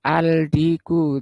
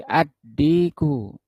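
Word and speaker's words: الديك: Ini gak boleh dibaca aldiku tapi addiku at tholbu.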